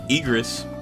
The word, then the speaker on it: Igris: You got Igory. So Igris. Wow, why did I say it like that?